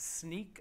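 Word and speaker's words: Snyk: the field CTO at sneak uh which is pronounced like a pair of sneakers or sneaking around uh it also is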